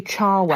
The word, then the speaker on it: Cherwell: I used to work at Cherwell Valley Services, and that's how I pronounce it, but I think it's technically Charwell.